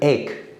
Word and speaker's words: ache: So ache means pain. So CH here pronounced as K.